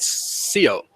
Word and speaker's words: Scio: uh but actually uh we say it in the Spanish way and of course in